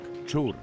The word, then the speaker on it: Щур: Богами, подібними до нього, були щур, дід, прадід, пращур. Щур також вимовляли як чур.